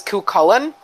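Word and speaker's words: Cú Chulainn: hero didn't you dude the only time I've ever heard that name pronounced it was KU Cullen so like I've been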